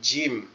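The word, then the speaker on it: جيم: জিম। জিম। জিম। এই জিমটা জিম। কিভাবে উচ্চারণ হবে দেখেন, আমাদের দুই দাঁতের পাটি একসাথে লেগে থাকবে, লেগে একটু শক্ত আওয়াজে জিম, জিম, জিম।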